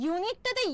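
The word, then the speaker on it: unique: কিন্তু ইউনিকটাতে ইউ থাকার পরেও কিন্তু সাউন্ডটা কি হচ্ছে? ইউনিক। ইউনিক ওয়াই দিয়ে স্টার্ট হচ্ছে না সাউন্ডটা? ইউনিক, তাই না?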